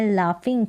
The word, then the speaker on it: laugh: लाफ की spelling देखें, LAUGH को यहाँ पर फ पढ़ा जा रहा है, लाफ में जो है GH का उच्चारण फ करके हो रहा है।